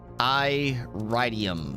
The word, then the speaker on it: iridium: That old iridium. Iridium. That's it. That's how you say it. Everybody else is wrong. It's iridium.